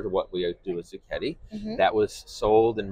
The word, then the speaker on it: Zucchetti: Zucchetti. Zucchetti. The Italian speakers out there know, the Americans say Zucchetti.